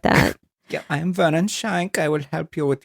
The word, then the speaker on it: Schenck: Did I pronounce that right? No, I think that's right. It's Schenck.